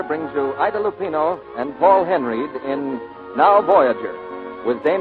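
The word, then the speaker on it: Henreid: in many a day he pronounces his name paul henry he and ida lupino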